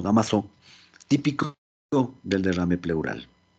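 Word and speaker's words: Damoiseau: damas de au pair se pronuncia dámaso la línea de dámaso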